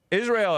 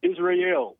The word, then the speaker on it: Israel: Israel, am I pronouncing your name correctly? Nope, it's Israel.